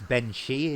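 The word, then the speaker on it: bean sí: Well, in Ireland, it's actually because it's spelt strange in it. It looks like it's actually spelled Siddy, but it's Yeah, pronounced she in it, yeah, and it's Ben She in it. yeah, If you actually translate it straight from the Irish, it's actually Banshee, not Banshee. yeah.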